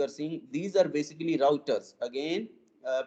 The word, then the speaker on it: routers: seeing these are basically routers again uh pronunciation is routers not rooters so please be careful in pronouncing it it is pronounced as